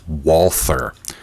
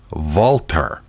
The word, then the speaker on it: Walther: are aware of but people do pronounce the name as Walther Well w has a v sound with in German well the th is pronounced as a t sound so with all that you get valtter I don't know it